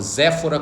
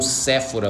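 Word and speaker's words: Zípora: se casar com sua esposa zephora constitui uma família ou Sephora outra tradução pronúncia constitui uma família e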